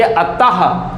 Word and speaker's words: अतः: अगर आप लिखते हैं, यहाँ पर एक वर्ड लिखते हैं अतः, जब अतः लिखते हैं तो लास्ट में विसर्ग डालते हैं, तो बोलिए अतः, तो लास्ट में आता है मेरा ह, इसीलिए इसको कहा जाता है कि विसर्ग का उच्चारण ह की तरह होता है।